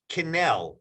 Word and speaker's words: Kinell: so um where do we get it it's Canal correct yes I want to make sure correct pronounce the application right um where and where